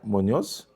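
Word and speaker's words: Muñoz: Munoz. Wait, you only had him for one game week. He's done all right. Moso cuz it's got the accent on the end.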